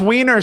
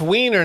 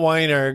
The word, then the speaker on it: Weiner: Pronounced Wiener, sir. It's pronounced Oh, Wiener. it's Wiener, not Weiner.